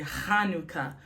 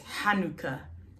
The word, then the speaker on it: Hanukkah: A lot of people say Hanukkah, Hanukkah. That's not how you say it. It's Hanukkah. It's the het, not a chaf.